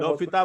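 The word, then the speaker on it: L'Hôpital: हॉस्पिटल भी कहते हैं, एस नहीं है, लोफिता बोलते हैं। एल को अलग मत करो, वैसे लिखो, एल हॉस्पिटल लिखो जैसे लिखते हो, और इसे एल को अलग मत करो, लोफिता। अंतिम एल को साइलेंट कर दो। हॉस्पिटल का जो अंतिम एल है ना, हाँ, और एल को साथ में बोलो, साथ में अलग क्यों करते हो जी? तो लोफिता, ये पता रहना चाहिए, क्योंकि कहीं कहीं को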